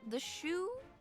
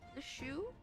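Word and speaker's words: Sioux: It's like uh is it pronounced the shoe? S I O U X the shoe.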